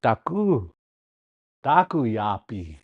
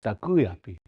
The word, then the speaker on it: daku yapi: So daku yapi, you could say if you said it like that, but we're not going to say it like that. It's daku yapi.